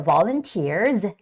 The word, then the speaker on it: volunteer: gratitude heartfelt gratitude okay the word volunteer has the stress on the e e vowel part so volunteers volunteers volunteers and the word organization